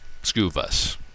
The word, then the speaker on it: Skuvus: you break it down sku of course in retailing is stock keeping units every store in the country uses the same terminology view vus is a little different twist on the word view but essentially what we're talking about is the ability to view information about an sku skewview scuvus that's the way we